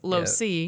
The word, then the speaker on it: LoSo: And so it's spelled LOSE. And so instead of it saying lose, it was LoSo.